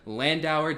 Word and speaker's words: Landauer: This time, and only Julia Landauer.